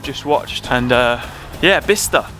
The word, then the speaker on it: Bicester: watched and uh yeah bista nice place weird pronunciation not Bicester B hm updates what have